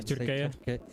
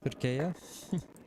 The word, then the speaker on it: Türkiye: I was corrected that I shouldn't be saying Turk anymore. Yeah, Türkiye. Türkiye. Hopefully that's correct.